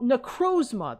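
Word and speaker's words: Necrozma: Necro necrosma. That's how you pronounce it.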